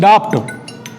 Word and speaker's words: doubt: DOUBET, doubt. Just a second. Flight mode. Consensus to any doubt, DOUBET, doubt. It means is a pronunciation is called doubt, not doubt.